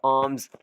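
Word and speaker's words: alms: पुरानी टोपी थी, फॉर आर्म्स, हैरात के लिए, ठीक है, इसमें एल साइलेंट है, आर्म्स हैरात के लिए या चंदे के लिए।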